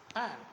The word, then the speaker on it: PAN: The acronym is different, but here the combination of the words should be pronounced as a single word. For example, PAN.